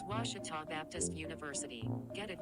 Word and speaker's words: Ouachita: university back in texas everybody pronounces it wichita but really it's ouachita washington how would you pronounce it it's washita baptist university get it